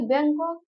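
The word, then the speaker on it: Bangkok: उसके बाद जो था आगे बैंकॉक, बैंकॉक बैंकॉक जो था बैंकॉक है, या जी जो है साइलेंट है, बैंकॉक कॉन्फ्रेंस में जो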